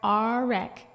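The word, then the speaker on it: Orick: that I live in Oric, or Arek, as my grandmother said it's supposed to be pronounced.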